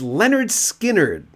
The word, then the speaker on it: Lynyrd Skynyrd: first one in 73 pronounced Leonard Skynyrd and then of course